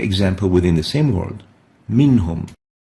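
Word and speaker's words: منهم: Minhum. Minhum, we have a Nun Sakinah with Tanween, followed by a Ha with a Dhamma.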